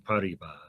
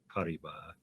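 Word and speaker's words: Paribas: September 14 2016 BNP parba I don't know how other people pronounce parba that's how it would be in French p a r i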